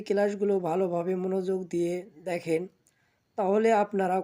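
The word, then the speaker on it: ت: সঙ্গে লাগিয়ে উচ্চারণ করব, তা। তো তা হরফটি আমরা জিহ্বার আগা সামনের উপরে দুই দাঁতের গোড়ার সঙ্গে লাগাবো, এরপর সুন্দর করে উচ্চারণ করব, তা।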